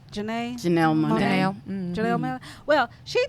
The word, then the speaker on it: Janelle Monáe: I might say her name wrong. Janae Monet? Janae? Janelle Monáe.